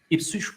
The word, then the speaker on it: Ipswich: Is it Ipswich, Ipswich? And I was like, whoa. All right, you got to pronounce it like Norwich. So, okay, Ipswich is it.